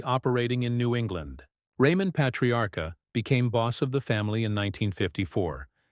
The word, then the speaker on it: Patriarca: The Patriarca crime family, Patria Arca, Italian pronunciation, Patriarca, also known as the